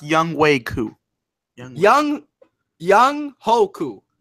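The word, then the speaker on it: Younghoe Koo: what's his name ho ho no no it's pronounced young way Koo Yong Yong ho qu it's you know it's spelled Yong ho but it's Yong woo yeah okay a guy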